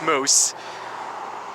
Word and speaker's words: moose: Yeah, that's how you pronounce the plural form, it's moose.